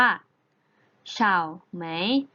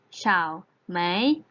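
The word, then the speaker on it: 草莓: ใน ภาษา จีน แล้ว จะ เอา เสียง ได้ ว่า ชาว ไหม ชาว ไหม เสาร์ ไหม นัก เรียน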